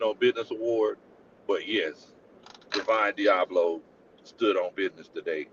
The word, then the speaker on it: Divine: Divine Diablo. Yes. Yes. Okay, Deian. Look, that's how you got to say his name. You can't just say that. You gota be like Deine. Deian Diablo.